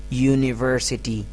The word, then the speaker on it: university: Although this word starts from a vowel, but the initial sound is not a vowel sound, it's a consonant sound. University. University. Ya is the initial sound.